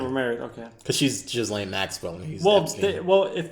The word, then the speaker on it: Ghislaine: But yeah, Ghislaine Maxwell. Federal prosecutors resting their case in the sex trafficking trial of Ghislaine Maxwell. Is it? Oh, wait, is it Ghislaine and not Ghislaine? If the S is silent.